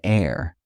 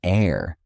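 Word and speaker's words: heir: An air. In air, the H is silent, so it starts with the vowel sound ear.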